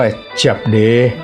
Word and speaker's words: 叔爹: บอก ว่า คำ ว่า เจบ เด้ ที่ มี คำ ว่า เจียบ อย่า ออก เสียง เจี๊ยบ สำเนียง ไทย เจี๊ยบ ให้ มี ตัว โอ เสียง โอ ผสม ใน เจี๊ยบ ด้วย ก็ เป็น เจบ ไม่ ใช่ เจี๊ยบ ออก เสียง จับ ใน